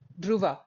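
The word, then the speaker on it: Druva: Uh, code name Duva. D R U V A. I removed the H because it's easier to pronounce for people not in India because they have trouble pronunciate pronunciating D.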